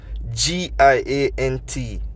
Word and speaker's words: giant: G-I-A-N-T, giant. If you listen carefully, you don't hear that hard G sound anymore. You hear that J, which starting to sound like a J.